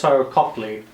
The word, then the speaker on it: Copley: the actor's name uh copley i think that's how you pronounce his name cop ley right yeah yeah i think